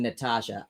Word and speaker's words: Natasha: Okay, so I'm spelling it right in my head, Natosha, but its pronunciation is like the regular spelling Natasha. Ah, okay. So I'm seeing Natosha and saying Natosha, but it's actually pronounced Natasha.